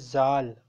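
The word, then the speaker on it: ذال: It says dh, but it's pronounced as z. It is zal.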